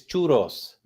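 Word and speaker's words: churros: saying it right he it's churos not chur it's churos churos say it right gringo s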